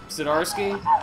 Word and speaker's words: Zdarsky: So, Erica, I assume that you're talking about Chip Zdarsky. Am I pronouncing Yes.